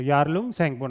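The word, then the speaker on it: Yarlung Tsangpo: ठीक है, इसमें क्या है, टी अपना साइलेंट है, तो यारलुंग सैंगपो नाम हो गया।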